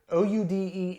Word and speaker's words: Oude: So the name of this beer, O-U-D-E, is Oude, and then the word, I'll just pronounce it, it's Geuze.